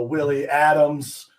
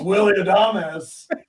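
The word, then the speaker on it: Willy Adames: opening this product and i say you know willie adams or you know however i pronounce it and and some guy with shorts and larry bird socks walks by my booth he looks over he says it's willie adamus right of course uh of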